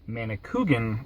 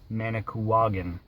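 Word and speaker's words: Manicouagan: of our previous video when I pronounced it manik kugan it should have actually been pronounced managan thanks very much water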